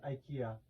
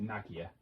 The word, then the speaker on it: Nakia: For the longest time, I thought you said her name was Ikea. Ikea? Yep. Oh, it's Nakia. Ah. It's actually pronounced Nakia.